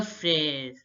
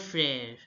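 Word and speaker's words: frère: speaker foreign speaker foreign again brother is pronounced as Le Freire Le frere now look because of this here also because of this ground accent in E the sensation changes to fair fair love frere now listen to the pronunciation of the Native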